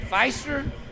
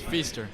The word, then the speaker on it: Feaster: i mispronounced your name is it feister it's feaster feaster i'm a punch myself